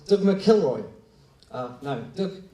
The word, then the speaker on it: McIlroy: Ken Thompson uh but a guy called Doug McIlroy oh no look McElroy that's how you're supposed to pronounce it and the McElroy was a technical